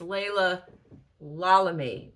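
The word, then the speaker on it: Laila Lalami: I think I said Leila Lami earlier in this video, but I found out at the event that it's Leila Lami. I've been mispronouncing it, so I stand corrected.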